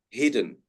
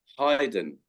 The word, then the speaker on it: hidden: I have heard some people pronounce it as hidden. But of course, the correct pronunciation is actually hidden.